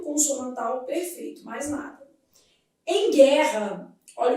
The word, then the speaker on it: guerra: Em guerra, esse U não é pronunciado. Então isso aqui forma um dígrafo. E aqui os dois Rs tem um som só.